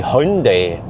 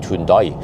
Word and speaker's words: Hyundai: names correctly for example it's supposed to be hyundai hyundai something like that but norwegian we call it tundai and also yeah we